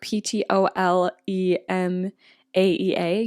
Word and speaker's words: Ptolemaea: Usually when I'm looking at track 9, it's like Ptolemaea. Usually when a PT is put together, the P is silent.